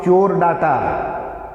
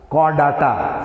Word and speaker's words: Chordata: Don't pronounce it Chordata. Chordata.